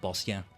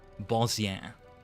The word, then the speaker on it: Bozja: I guess I I end up pronouncing it more like Bosia.